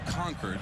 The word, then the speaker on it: Concord: How do you say this Concord there? This is Concord, not Concord, North Carolina, but Concord, Massachusetts. Concord? You could say Concord too if you want to.